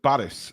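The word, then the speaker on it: Barış: Naimm says it's pronounced Baris, like Boris, but with an A.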